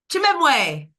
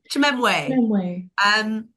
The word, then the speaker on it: Chimwemwe: So if you can see on there, there's the spelling phonetically. So it's Chimwemwe. Chimwemwe. Chimwemwe. Chimwemwe.